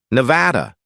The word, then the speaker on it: Nevada: "No, and I use the English pronunciation, Nevada.